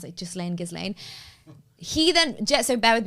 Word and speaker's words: Ghislaine: Maxwell who, it might be Ghislaine Maxwell's father, I don't know, but he died in like the 90s or something.